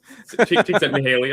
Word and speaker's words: Csikszentmihalyi: Good pronunciation. It killed me to hear him say Csikszentmihalyi.